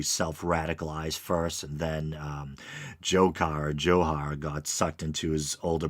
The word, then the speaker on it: Dzhokhar: the young brother um johar um initially people were pronouncing it as jokar or whatever his name